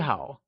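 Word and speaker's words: 好: tip Good = Hǎo Just like Nǐ, Hǎo is also said with a falling rising tone (3rd) Greetings Hello Nǐ hǎo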